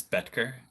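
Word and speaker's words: Boettger: last name correctly uh it's it's betger the oh is silent all right and can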